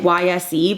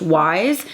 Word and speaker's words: YSE: These are from Wise Beauty. I kept saying YSE, but it's pronounced Wise.